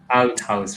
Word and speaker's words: Althaus: Althaus, right? Very well pronounced.